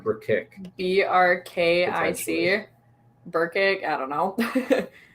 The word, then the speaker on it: Brkic: So it's like brick, but Burkick.